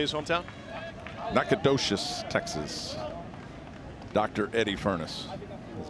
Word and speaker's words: Nacogdoches: Nacogdoches, Texas.